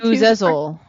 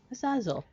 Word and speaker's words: Azazel: Which I practiced, and it told me I had the Z wrong. Azazel. There you go.